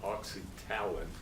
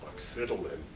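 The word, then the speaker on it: oxytalan: Posada is lecturing to you, he invariably mispronounces this word. He pronounces it oxytalin. It's pronounced oxytalin. I know that for a fact because the guy who coined the word was a friend of mine, Harold Fulmer, who at one time was the head of the National Institute of Dental Research, and I asked him, oxytalin is the correct pronunciation, but around our department,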